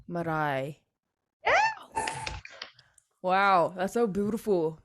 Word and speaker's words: Marae: So you have to roll the tongue on the R because my middle name is Maori, so it's Marae. Marae.